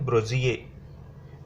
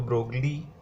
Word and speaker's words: Broglie: Actually France में इसको pronounce की जाती है ब्रोजिए, लेकिन इंटरनेशनल करिकुलम में हम इंडिया में इसको ब्रोगली कहते हैं।